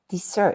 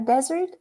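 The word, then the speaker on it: dessert: that do you know this pair desert and desert it slightly different accent have ever been to the Sahara Desert which is usually a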